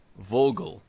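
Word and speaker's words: Wörgl: this town called uh Vogal again you know spelled wulle but we're going to do the German pronunciation I know I know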